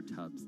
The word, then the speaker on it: Tubbs: but i mispronounced his i said stubs it's dubs mayor tubbs there in stockton all